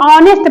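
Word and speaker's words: honest: उच्चारण करते हैं तो उसमें एच का उच्चारण नहीं करते हैं एच का उच्चारण क्या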